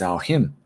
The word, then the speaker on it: Samhain: for you guys is something that's spelled s-a-m-h-a-i-n which we think could be samhain but it isn't it's al him and that is the